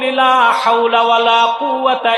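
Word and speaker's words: لا حول ولا قوة: হাসি] পড়বেন লা হাওলা কুয়াতা না কুয়াতা শুদ্ধ উচ্চারণ করেন লা হাওলা ওয়ালা কুয়াতা ইল্লা বিল্লাহিল আলিম আপনার অজান্তে বিপদ থেকে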